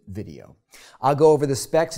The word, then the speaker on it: VDO: By the way, the company spells its name VDO, but pronounces it video.